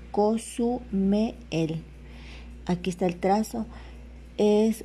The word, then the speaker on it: Cozumel: luego el o sea se pronunciaría así cosume el Aquí está el trazo